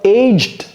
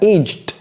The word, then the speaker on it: aged: Donc, do you love aged cheese? Et vous voyez comment j'ai prononcé ça, aged. J'ai pas dit aged. Aged cheese.